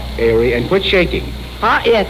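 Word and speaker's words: Haere: to introduce it here it is spelled h-a-e-r-e go ahead how do i say it we now introduce we now introduce now is the hour in other words h-a-e-r-e airy and quit shaking ah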